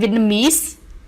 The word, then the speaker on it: Vietnamese: And Vietnamese is stressed on the last syllable.